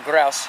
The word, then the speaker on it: grouse: from the Dutch area it's called a grouse and a lot of people call them gross like I said I made the mistake of saying that but that's not the correct products and pronunciation there they're pretty decent berries